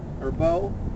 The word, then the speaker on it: Arbeau: Hey guys, it's Matthew David Hurtado with the Natural Health Report, and I'm with Arbeau, and we pronounce it right. No, it's French Canadian, so everybody gets it wrong.